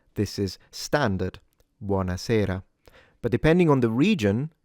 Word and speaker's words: buona: All right, for the advanced learners, note that in buana, the O is open in standard Italian diction, buana. And then in Sarah, the E is closed in standard Italian diction. So it's buana, not bu with a